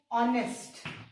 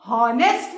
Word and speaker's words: honest: लेकिन इस एच को हम जब भी हम HONEST इसको प्रोनाउंस करेंगे तो हम इसको हॉनेस्ट नहीं बोलेंगे, हम इसको क्या बोलेंगे, ऑनेस्ट. ओ है ना, किसका साउंड आ रहा है, ओ, AEIOU है ना, वावल का साउंड आ रहा है ना, क्योंकि इसमें एच साइलेंट है.